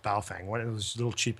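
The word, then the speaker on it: Baofeng: somebody could do this with a bale Fang B Fang however however you pronounce it I think it's actually pronounced B Fang one of those little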